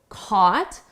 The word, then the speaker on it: caught: email his email really caught notice here the spelling and the pronunciation are very different caught caught his email